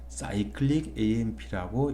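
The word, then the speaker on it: cAMP: 그런데 읽을 때이 CAM는 사이클릭 AM라고 읽어야 되겠습니다. 반드시 그래야 됩니다.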